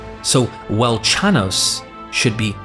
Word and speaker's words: Velchanos: Here, the W in the name is pronounced as a V and the ch c h is pronounced as k k. So, Welchanos should be Valcanos and has thus been